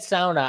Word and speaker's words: sauna: way you said it it's sauna until he said Sona I've never heard anyone